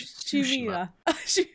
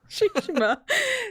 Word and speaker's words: Tsushima: Ghost of Tsushima. Tsushima.